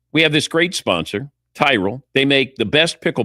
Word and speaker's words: Tyrol: It's Tyrell Pickle Ball Shoes. You spell it T Y R O L.